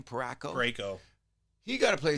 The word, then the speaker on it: Parayko: Parayko.